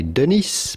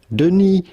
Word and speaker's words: Denis: Do not pronounce the S to Denis. It is silent in French. Do not say Denis, but rather Denis Villeneuve.